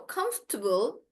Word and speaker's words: comfortable: So, comfortable, vegetable, believable. But I'm saying bull. I'm not saying able like that.